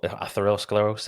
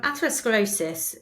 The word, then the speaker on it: atherosclerosis: ones like damage to the cell wall aosc atherosclerosis is that how you pronounce it yeah what's going on there yeah so um atherosclerosis in a kind of really simply put is